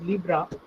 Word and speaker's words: Libre: It is seen as Libre but pronounced as Libra, which also literally means free.